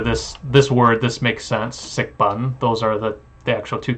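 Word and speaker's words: 食品: 食品 So this, I can validate, at least for this word, this makes sense, sikbun. Those are the actual two characters there, and that is the Cantonese pronunciation.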